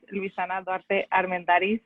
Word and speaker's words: Luisana Duarte Armendáriz: So, like Stacy said, my name is Luisana Duarte Armendáriz. It's hard to pronounce, and I've been told that when I present myself, I say it too quickly, so now I'm doing it slowly.